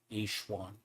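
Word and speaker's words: Yixuan: So that's actually how they pronounce it. Fixuan. That's exactly how they do it. Though it doesn't look like it's spelled that way.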